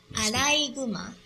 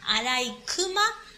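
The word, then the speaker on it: あらいぐま: Right, it's a compound word, so pronunciation changes from kuma to guma. So it's not arai kuma, but arai guma.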